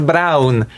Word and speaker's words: Braun: Gregor Brown. Why am I not supposed to use his surname? What do you mean? That is That is literally how you pronounce his name in Polish.